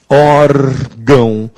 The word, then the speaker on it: órgão: palavra órgão aí está órgão a sílaba tônica é o or por isso ten um